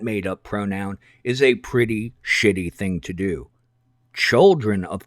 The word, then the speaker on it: S/H/IT: Just to make the whole thing a little more slashy and streamlined, it can be written as S/H/IT and pronounced shit, as in so-and-so identifies as a shit, and Ezra Miller, to his core, is shit.